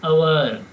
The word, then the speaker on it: hour: HOUR ಅಂತಂದರೆ ಇಲ್ಲಿ ಎಚ್ ಏನಿದೆ ರೀ? ಕಾನ್ಸನೆಂಟ್ ಇದೆ, ಅದು ವ್ಯಂಜನ ಇದೆ. ವ್ಯಂಜನ ಇದ್ದರೂ ಕೂಡ ಉಚ್ಚಾರ ಮಾಡುವಾಗ ಅದನ್ನು ಯಾವ ರೀತಿ ಉಚ್ಚಾರ ಮಾಡ್ತೀವಿ? ಆ್ಯನ್ ಅವರ್ ಯೂಸ್ ಮಾಡ್ತೀವಿ. ಉಚ್ಚಾರ ಮಾಡೋದ್ರಿಂದ ಅದು ಏನದೆ ಸ್ವರ ಇದೆ, ಹೀಗಾಗಿ ಆ್ಯನನ್ನು ಯೂಸ್ ಮಾಡ್ತೀವಿ.